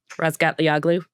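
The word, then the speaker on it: Razgatlıoğlu: We all know how to pronounce his last name. Say it. Rasgatagloo.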